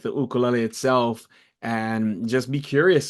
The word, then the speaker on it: ukulele: be um on point ukulele is the correct pronunciation in Hawaiian so it's like thinking